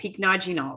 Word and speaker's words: Pycnogenol: overall blood circulation because of our key ingredient, pycnogenol. But I would say saying overall, it. Sorry to interrupt. Pycnogenol.